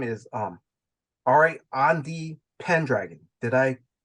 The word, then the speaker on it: Ariadne: King Arthur's son's name is Anwil, and the daughter's name is Ariadne Pendragon. Did I pronounce that name correctly? Yes. Okay. Yes, Ariadne.